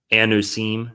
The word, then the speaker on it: Anusim: We have words like chueta, morirano, converso, anusim is another, that's how they say it in Hebrew.